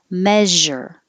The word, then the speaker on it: measure: a little more common measure so make sure you have the sh in the middle it's like shh but